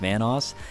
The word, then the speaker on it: Vanoss: to this channel obviously my name is pronounced vanoss and if you guys